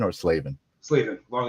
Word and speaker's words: Slavin: did I pronounce that right have I been pronouncing that right for Is it Slavin or Slavven? Slavven. Long a. Slavven.